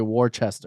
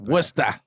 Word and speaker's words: Worcester: from worcester massachusetts oh my god did you pronounce it correctly did i yeah a lot of people say warchester warcester yeah i wanted to say that worcester welcome to worcester yeah dollar 25 please and